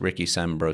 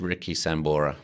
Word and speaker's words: Richie Sambora: from Bon Jovi guitarist Ricky Samburu sir did we did we think this is a real person or checked and I got his name wrong it's it's it's Richie Sambora but it doesn't the